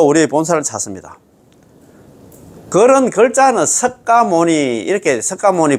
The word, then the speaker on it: 석가모니: 자, 서가문이 불로 되 있는데 1 발음은 서가문이라고 하고 추근할 죽은 끝때는 나무 서가모니 불이라고 불러 우리의 본사를 찾습니다. 그런 글자는 석가모니 이렇게 석가모니 불 석가모니 불이 돼 있지만 우리가